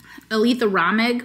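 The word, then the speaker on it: Aleatha Romig: Although I've been listening to Consequences by Aletha Ramig, which is apparently how you say her name.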